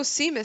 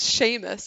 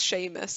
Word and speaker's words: Seamus: something like that and i was like oh seamus said this and my mom's like who now that's like seamus it's pronounced sheamus and i was like you're barking it's that